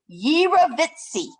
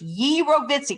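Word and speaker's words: jirovecii: pjp is is pronounced yeera vitzi is how that's pronounced ye rovitzi kind of like this sandwich hero like it's not a gyro it's a hero pneumocystis eurovitzi we call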